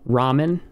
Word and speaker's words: ramen: pronounce this in english ramen right it's a real heart in japanese it's not er it's so you can probably hear the difference there it's a mix between r and l okay it's somewhere in